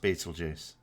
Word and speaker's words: Betelgeuse: supposed to be you just want to see Betelgeuse explode well it's pronounced Betelgeuse as silly as that sounds it's actually how